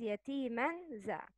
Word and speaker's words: يتيما ذا: Pronounce it as يتيما ذا. One فتحة. Hidden نون. Make nasal sound. Slight غنة.